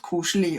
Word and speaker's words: koselig: Koselig.